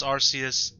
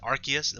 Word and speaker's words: Arceus: Now, I know a lot of people pronounce Arceus differently. A lot of people pronounce it Arceus, which probably is the correct way to pronounce it. I say Arceus. I've said Arceus since Diamond and Pearl, and there's no way I'm changing that now. So I do apologize if